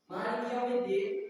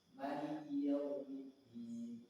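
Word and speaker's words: مالك يوم الدين: Maliki Yaumiddin di sini para ulama ahli baca Al-Qur'an ini ada yang membacanya dengan pendek, ada yang membacanya dengan panjang. Maka kita kalau qiraah yang memang masyhur itu memang kita panjangkan.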